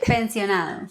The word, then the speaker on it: pensionado: Pensionado.